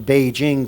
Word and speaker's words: Beijing: is again one of the great traditions of beijing by the way peaking is the old pronunciation and spelling it's all changed in roman letters and foreign pronunciations but it's always been beijing to in mandarin chinese but we still call